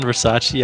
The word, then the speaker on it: Versace: what oh yeah um it's actually Versace not Versa but I decided to go